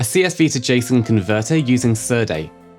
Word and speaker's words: Serde: A CSV to JSON converter using Serde Si Surd. Serday of no agreed pronunciation is short for serialized deserialize.